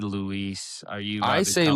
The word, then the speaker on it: Louis: May 4th, 2010, Julia Louise Dreyfus receives the 2,407th star on the Hollywood Walk of Fame, but they spelled her name wrong.